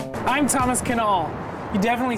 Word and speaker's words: Knoll: I'm Thomas Kuh-null. You definitely say the K. We like to spit when we talk in Germany. So, Kuh-null. That would be pronounced Didymus TK.